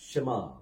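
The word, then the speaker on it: שמע: மூணையும் சேர்த்தீங்கன்னா எப்படி உச்சரிப்பீங்க ஷமா ஓகே என்ன வரும் ஷமா அந்த ஷமா அப்படிங்கறத இந்த ஷ சீக்கிரமா சொல்லணும் ஷமா ஓகே மா வந்து மா அப்படின்னு சொல்லி உச்சரிக்க கூடாது ஷமா அப்படின்னு சொல்லி சொல்லக்கூடாது ஷமா சோ இது வந்து இது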